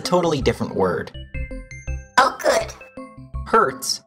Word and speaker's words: Hertz: different word oh good Hertz is spelled h e r TZ and it tells us